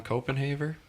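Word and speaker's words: Koppenhaver: But hey, you guys know John Copenhaver?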